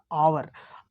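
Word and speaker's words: hour: आप इसको पढ़ेंगे तो यहां पर हा साइलेंट होता है इसको पढ़ा देता अवर अवर पढ़ा जाता है इसीलिए यहां पर जो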